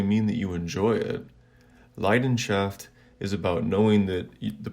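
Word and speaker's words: Leidenschaft: countries as well like in german for example the word for passion is pronounced leiden shaft which literally means the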